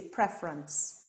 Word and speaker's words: preference: is pronounced favorite or if you add a suffix to prefer you no longer say prefer you say preference and lack of knowledge